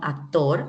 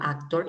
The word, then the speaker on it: actor: waitress actor es masculino actor actor igual que en español se escribe pero digamos que la acentuación es diferente mientras que la forma